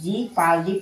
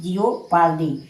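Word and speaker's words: jeopardy: इसी प्रकार जे इ ओ पी ए आर डी वाई यानी क्या? इसे जी पालडी पढ़ेंगे ना कि जिओ पालदी यानी ओ जो है साइलेंट है।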